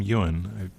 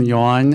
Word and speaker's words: Ewing: we misunderstood no problem not many people pronounce mine lost them incorrectly thank you so my name is Ewing I'm wonder rest and